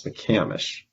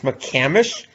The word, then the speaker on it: McCamish: how do you pronounce apparently it's not it's mccamish it's mccamish after all the the people